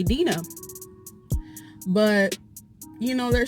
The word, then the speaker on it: Dinah: to pronounce it like if I choose to pronounce my name Deena that's on me I don't know people